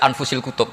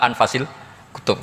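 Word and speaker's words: أنفس الكتب: saya saja di sini ditulis anfusil kutub kalau saya baca anfasil kutub karena maknanya kitab ter baik Kalau kitab terbaik bacanya bukan anfus tapi apa anfas ya nanti kamu debat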